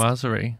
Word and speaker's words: viennoiserie: How would you pronounce that, Hugh? Viennoiserie. I love viennoiseries. Yeah, very good. Ah, viennoiserie. Yeah, viennoiserie. Like, it comes from Viennese.